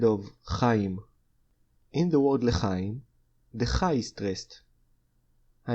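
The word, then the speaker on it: לחיים: The Hebrew matching word for cheers is lechaim.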